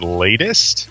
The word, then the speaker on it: Late[st]: And we determined that it's supposed to be pronounced latest.